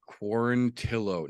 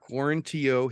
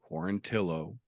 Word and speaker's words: Quarantillo: a good one boys and girls uh Billy quarantillo not quaranteo he corrected everyone it is pronounced fanatically quarantillo got his wish the UFC did something they